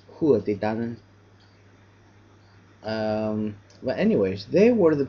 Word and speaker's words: Tuatha Dé Danann: In Gaelic, you would probably pronounce this as Tuatha Dé Danann.